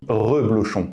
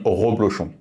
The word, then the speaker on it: Reblochon: prononciation visiblement plus simple on dit Reblochon et non roblochon il y a une